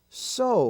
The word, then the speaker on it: sew: as feud and deuce now the exception in that spelling form is the word s-e-w so like to so uh uh so uh